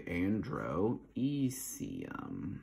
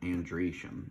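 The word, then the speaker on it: androecium: e-c-i-u-m for genesium and then andresham is basically Andro ecium but andreashem these are all the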